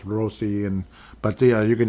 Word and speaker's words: Rossi: And I know Marco Rossi and I it's pronounced Rosi. And but yeah, you can just call me Rossi.